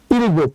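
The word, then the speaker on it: 일곱: আর নিচে আছে হচ্ছে আর যদি নিচে বসে তাহলে উচ্চারণ হবে প তাহলে উচ্চারণ হবে পুরাটা হচ্ছে ইরগোপ আর ইরগোপ মানে হচ্ছে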